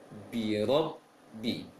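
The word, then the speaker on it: رَبِّ: Kan itu dalam membaca ra fathah jangan dimonyongkan bibirnya, jangan dimanyunkan bibirnya, tetapi agak membulat sedikit saja. Lebih utamakan, lebih didominankan pengucapan ra di lisannya, rabbi. Dan juga tidak boleh dibaca rabbi. Sebagian daerah, sebagian kaum muslimin yang membaca bi rabbi, dia mengarah ke O, akan tetapi bibir tidak boleh monyong.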